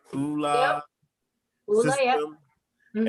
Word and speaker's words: ULA: Did I pronounce that right? ULA.